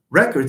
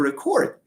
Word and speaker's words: record: Sorry, record is the noun, but the verb is to record. Why? It's because in English, it's habitual to stress. In case you have a disyllabic word, you stress the second syllable if the word in question is a verb. So whenever we have a verb with two syllables, it is the second syllable that gets stressed.